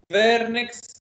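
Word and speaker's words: Wernicke: حاجه اسمها فيرنكس انكفالوباثي، فيرنكس تنطق زي الفولكس فاجن كده، فيرنكس انكفالوباثي هنشرحها كمان شويه، زي ريجيديتي بتحصل وبيحصل زي كونفالجنس وبتخلص بكوما وديث.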